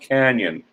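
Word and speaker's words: Cañon City: spelled the same way it is pronounced canyon but it's always been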